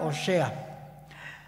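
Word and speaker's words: הושע: nos dice lo siguiente en hebreo su nombre se pronuncia oshea su nombre significa salvación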